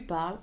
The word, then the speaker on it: parles: Je parle, tu parles, final S. Il parle, ou elle parle, of course, if it's a girl. So je and il, elle are written the same, tu with final S, and the pronunciation is the same for all of them.